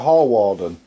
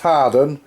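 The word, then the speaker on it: Hawarden: the air where we're on the air at hall warden I think is hot as prettiest prettiest biz it's pronounced hardened and we'll take a look at some wear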